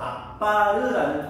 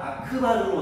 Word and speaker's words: 아크바르: 바로 악바르라는 사람에 대해서 공부할 거야. 이 악바르는 문제집에 따라 교과서에 따라 아크바르라고도 나오거든. 요즘 교과서 트렌드는 악바르보다는 아크바르로 나와. 그래서 악바르나 아크바르나 같은 사람이다. 약간의 발음상의 차이라고 보는데 바로 이 사람